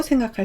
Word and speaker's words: 銭: 발음을 함께 전달하고 있다고 생각할 수 있습니다. 음독은 생입니다. 한국어 음은 전, 일본어 음은 생입니다.